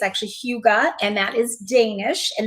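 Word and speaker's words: hygge: the name when I read I I was pronouncing it right I thought it was Hugga and then on their website I learned very quickly it's actually Huga and that is Danish and that stands for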